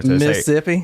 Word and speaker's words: Mississippi: Southern actually when you when you pronounce Mississippi you don't pronounce the other set of s's that's how you know somebody's from there Mississippi I'm from Mississippi oh